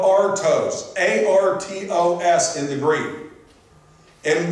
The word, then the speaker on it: artos: And when the Lord took the bread, that word bread is spelled artos, A-R-T-O-S in the Greek.